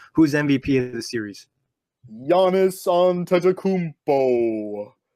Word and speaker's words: Giannis Antetokounmpo: It's Giannis Antetokounmpo. There we go. Excellent. There's our pronunciation right there.